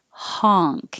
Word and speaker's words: honk: But 20 looks like it's an O, but it sounds like an ah. So honk. You have to open more. Keep your lips straight. Ha with an NK. Honk.